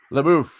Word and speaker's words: LaBeouf: LaBeouf. Sarah. It's because it rhymes with Yusuf.